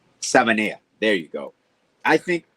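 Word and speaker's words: Savaiinaea: surprised with what Patrick Paul I can never pronounce his name. The guard that we drafted, Savadia. No, Jonas Savania. Savania.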